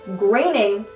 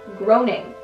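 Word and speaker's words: Groening: name I researched it it's graining not groaning I was wrong this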